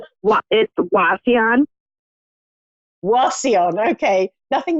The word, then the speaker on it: Wauseon: yes I am hello and how do you pronounce the town where you're from Lucille what it the Wafi on Wauseon okay nothing like what I said been well